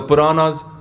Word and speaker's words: Puran: Those who will talk about the Puranas. Puranas are the Hindu texts. There's many Hindu texts. There's Puranas, there's Kate, there's Shastra, Simritis, Veds. So this is one version, but it's rhymes with the word Quran.